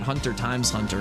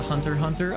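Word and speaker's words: Hunter × Hunter: I always called it Hunter Times Hunter and I've been corrected many times by that.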